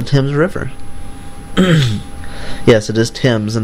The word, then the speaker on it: Thames: Yes, it is Thames and not Thames, which is how I pronounced it for most of my life before somebody graciously corrected me.